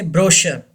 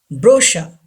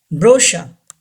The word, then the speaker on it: brochure: three brochure don't say brochure it's wrong brusha brusha CH gives the sound of SH ship and our is not